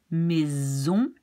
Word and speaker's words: maison: So we have base, réalise, maison, dose, deuxième. And when do you pronounce an S like a Z? Well, when the S is between two vowels, then it's like Z.